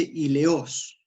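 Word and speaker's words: ἔλεος: una palabra que se creo que se dice y leos no sé si en la fonética correcta pero se escribe con h y para mi sorpresa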